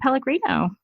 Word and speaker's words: Pellegrino: me just welcome Pellegrino and I should have asked you your name is pronounced like the fuzzy water it's exactly like that awesome well I was